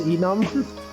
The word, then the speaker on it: enum: Enum versus enum? It stands for enumeration, which is why I say enum.